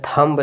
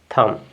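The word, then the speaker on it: thumb: तो उसको बोलते हैं थंब नहीं बोलते हैं थम क्या बोलेंगे थम बी आपका साइलेंट हो जाएगा थम इसके बाद देखिए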